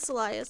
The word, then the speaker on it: Elias: Elias? Is that it? Elias, like either or.